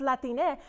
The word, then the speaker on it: Latine: new york someone corrected me and said it's pronounced latine which i was like thank you right because